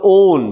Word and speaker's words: one: ओन। बहुत अच्छा। 1 नहीं है ये, हाँ ओन है, ओन।